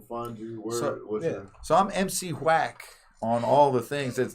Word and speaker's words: MC Whack: you so i'm m.c whack on all the things that's w-h-a-c-k quack w m-c you know the h is silent you know like like